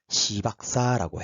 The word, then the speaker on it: 시박사: 그 이름이 조금 발음을 조심해 주십시오. 시박사라고 해요. 시박사.